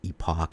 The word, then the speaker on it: Epoch: to select something called epic time EPO C you might pronounce it Epoch anyways it's going to